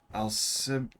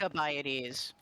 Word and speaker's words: Alcibiades: Snack, how have you known me for years without knowing how to pronounce C in Greek? It's always Right, hard. Alcibiades. Alcibiades.